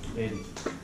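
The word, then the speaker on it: Aidan: Aiden. Aiden. How do you spell it?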